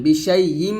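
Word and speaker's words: بِشَيْءٍ: করবেন বিশাই ইম বলবেন বিশাই ইম হবে না কিন্তু এখানে আমরা অনেকে হামজার উচ্চারণটা ক্লিয়ার করি না তাই হামজার উচ্চারণ ক্লিয়ার করতে হবে বিশাই ইম এরকম বিশাই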